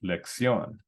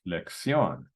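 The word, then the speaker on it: lección: in a vowel NRS the stress should be on the second to last syllable but this is an exception the word is pronounced lexion lexion so we're going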